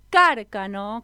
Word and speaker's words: Cárcano: Porque voy a presentar a un amigo, a una amigue que se llama Enzo Cárcano, con acento en la A.